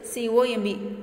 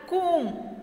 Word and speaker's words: comb: The correct word is C-O-M-B. I comb. B is the silent. So, you have to read, I comb my hair every day. I comb my hair every day. B is the silent letter.